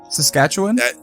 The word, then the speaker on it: Saskatchewan: pronounce yes yes : I think Saskatchewan I say wand versus win I mean I feel